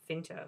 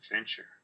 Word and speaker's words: Fincher: pick is alien three alien three by David finter orever you pronounce his name David Fincher David 37 that was his first movie wasn't